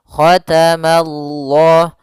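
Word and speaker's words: اللَّه: Itu untuk huruf lamnya tebal. Khatamallah. Ma-nya tipis. Mallah. Khatamallah. Khatamallah. Ya. Ma-nya tipis, Allah-nya tebal. Nah, maka dia baca dengan lam yang tebal, dan panjangnya untuk lafal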